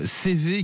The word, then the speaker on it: CEWE: CV, ça s'écrit C-E-W-E.